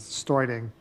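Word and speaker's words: Steuding: david studing s t actually i believe he pronounces starting s-t-e-u-d-i-n-g i will be handling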